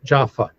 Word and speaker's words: Jaffa: If it doesn't have that little dot in the middle of the letter, it's pronounced like an F. So, Japa Jaffa.